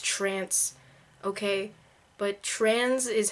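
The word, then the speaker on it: Tranz: to put on trans I know it's pronounced trance okay but trans is how it's spelled so trans is how I say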